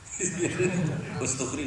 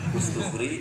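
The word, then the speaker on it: Istakhri: Ustukhri juga sama. Ustukhri, Istokhri. Apa? Ya itu. Bebas itu Ajam kan bebas.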